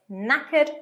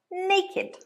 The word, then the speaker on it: knackered: looking after the children be careful of the pronunciation it's knackered not naked a phrasal verb that